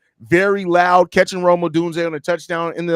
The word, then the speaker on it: Odunze: You added an extra E before the Z. Take that chocolate out your ear. I said Odunze. That's not how you say it. There's an N in there.